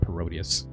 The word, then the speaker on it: Parodius: name is definitely worse than Gradius, Gradius, and Parodiius, which is only pronounced parodius.